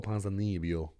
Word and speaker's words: Ponzinibbio: Kevin Holland versus Santiago Ponzinibbio.